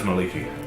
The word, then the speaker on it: Mielikki: She's known as Maliki. Maliki. What was it? Maliki? Maliki. I'll just spell that for Mielikki.